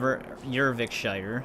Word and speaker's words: Eurvicscire: We still have a lot of ervikshshire. That's how they were pronouncing it.